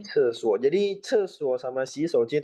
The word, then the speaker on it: 厕所: Ini bacanya cesuo.